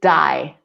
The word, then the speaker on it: dye: just so you know the pronunciation is die the same as when you finish your life you die right - die your hair